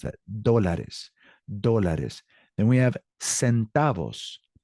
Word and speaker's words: dólares: That's how you pronounce that. Dólares.